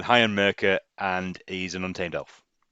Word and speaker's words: Heian Merca: But yeah, that's Heian Merca, Heian Marker. That you know, Heian Mercer. Already got the No, name wrong. I'm going Heian Merca, and he's an untamed elf.